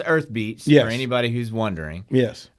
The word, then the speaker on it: EYrthbeat: want to call it earthy beet because the a is the it's like a y kind of but it's pronounced earth beats for anybody who's wondering